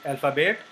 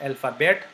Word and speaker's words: alphabet: uh with the French alphabet so the first word you will learn in uh French is alphabe this is not alphabet but because T is not pronounced why we we learn